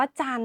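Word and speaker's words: จันทร์: พยัญชนะ ที่ ไม่ ออก เสียง ค่ะ คำ ว่า จัน นะ คะ เครื่อง หมาย ฆาต จะ อยู่ บน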